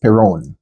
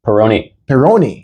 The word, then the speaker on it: Perrone: And name is pronounced Perrone. Perrone.